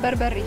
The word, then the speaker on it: berbere: We call it Berberi. Berberi. Yeah. Yeah, yeah. Berberi. Yeah. Am I pronouncing it right?